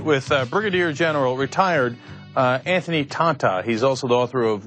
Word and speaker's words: Tata: I mean, I remember the tape and I forgot that it was pronounced Tata, and that was the whole point of why that was funny.